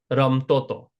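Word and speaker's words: રમતો હતો: Um Now, hato and hata, hato hati hata, uh most of the time people they actually drop the ha. So, if we just look at these again, so like ramto hato is usually pronounced ramtoto.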